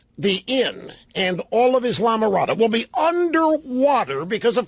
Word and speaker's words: Islamorada: It is not Islamorada, it's Islamorada, is that right? The S is silent in there.